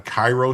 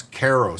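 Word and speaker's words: Karo: Are there tariffs on Cairo syrup? No, it's Keros syrup. I think it's C A R O is how it's spelled, not Cairo syrup.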